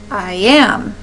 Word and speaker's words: iamb: I am is how that stressing would sound if you're applying it to a word.